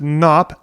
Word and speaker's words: Knops: can reach us at knops substack docomo has a silent k at the beginning so it's KO o